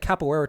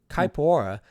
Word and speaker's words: Caipora: say her name's Capoeira, but it sounds like Capoeira to me, but it's not. It's Caipora, and she's in line